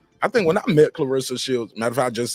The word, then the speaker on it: Claressa: of people been saying Clarissa shields for the longest uh they didn't they don't know if the E is pronounced with a short or long sound that that's a fair that's